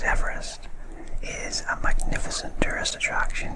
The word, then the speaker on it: Everest: and I believe that George Everest is indeed pronounced Everest r other than Everest it was a fact